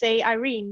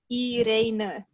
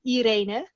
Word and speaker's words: Irene: Yeah, well, in English, I would just say Irene, because that's how you pronounce it in English, and I'm perfectly fine with it. But in Dutch, it's Irene. So we pronounce the, like the I, E, we pronounce it different than you would in English. So I would say Irene. That's the Dutch way of pronouncing it.